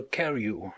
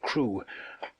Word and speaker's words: Crewe: Madame Pascal pronounced it as if it were Carew instead of Crewe, but that might be merely a matter of pronunciation.